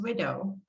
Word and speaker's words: Ouido: widow the word widow in my language is pronounced widow but means to play